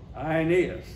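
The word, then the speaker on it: Aeneas: man named IAS actually where you see an AE in the Latin and in the Greek it pronounced I IAS he was paralyzed and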